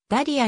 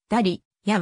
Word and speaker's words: ダリア: 考えられている原産国のメキシコでもほぼダリアに近い発音をする過去に歴史子より招いて品格からもだり家は間違いですと指摘を受けて